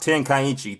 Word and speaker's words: Tenkaichi: And really, it's pronounced Tenkaichi 3.